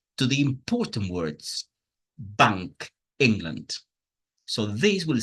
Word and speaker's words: England: The word England is important, but the word England itself was one stressed syllable, in, and one weak syllable, land.